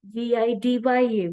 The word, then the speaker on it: Vidya: whereas in India if we uh write viya VI D ya we say but it is Vidya like that's